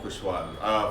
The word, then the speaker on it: Kuswar: Yeah, no, it can't be Kushwar because it doesn't have a H. It doesn't have to, and languages are different, and it's a Konkani word, so you never know. Okay, it is either pronounced Basically. Kuswar or Kushwar.